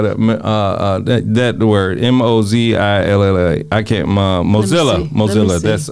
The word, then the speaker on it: Mozilla: Twitter, Wayfair, uh Mozilla, uh how do you spell that? Uh uh that word M O Z I L L A I can't Mosilla.